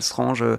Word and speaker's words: Strange: des comics Strange, Spécial Strange, je prononce à la française, hein.